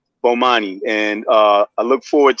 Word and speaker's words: Bomani: brother but how do you say your name Bomani Bomani and uh I look forward to you know